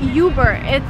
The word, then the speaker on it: Uber: So it's not Uber. Again, you do not follow American pronunciation rules here. You just say Uber.